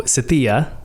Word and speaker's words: Sathiya: Okay, I am live with my good friend here, Sathiya Sam. So Sathiya, and I'm saying it right.